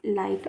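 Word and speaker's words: light: एल आई जी एस टी लाइट। मैंने आपसे कहा था जी एच के बाद अगर टी होगा तो जी एच का साउंड नहीं पढ़ा जाएगा।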